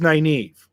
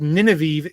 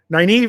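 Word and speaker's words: Nynaeve: you totally butchered completely mine was naive uh for whatever reason it was nineveh in my head every time i read it the first time it was nineveh nineveh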